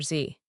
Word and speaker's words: Z: USA pronounces it Z. UK/Canada/Australia pronounce it zed. If you are speaking to an American and you say zed, they will understand you, but they will know you learned British English.